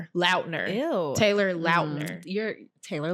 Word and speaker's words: Lautner: He came out and said that everybody's been pronouncing his name wrong this entire time, and he's never corrected anyone. How do you pronounce it? Lautner.